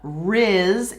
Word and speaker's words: rizz: say right so uh Riz is the the middle syllable of Charisma Charisma and so now